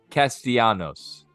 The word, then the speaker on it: Castellanos: we go you ready for this one Nick Castellanos oh he's yeah you said it right kudos